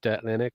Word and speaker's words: Linux: Again, that is basically where I was kind of going towards, because some people pronounce it differently, but Linux, is correct.